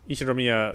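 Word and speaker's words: Ushiromiya: His name is pronounced Ishiromiya George.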